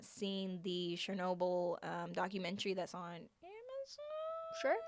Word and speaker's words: Chernobyl: People theorize that he was part of the cleanup crew for, I'm going to mispronounce this, Chernobyl. You pronounce it correctly.